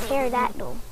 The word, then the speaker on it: pterodactyl: Today we're going to be learning, this week we're going to be learning about the pterodactyl. Did you know that the P is silent in pterodactyl?